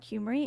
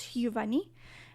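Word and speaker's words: Huvani: My name obviously it's my stage name is not Humery, it's Huani and you spell it H U V A N I.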